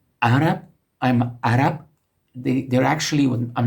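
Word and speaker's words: عرب: We say Arab, but Arabs pronounce it a bit deeper. It actually starts with a glottal consonant, and then comes the vowel a, Arab.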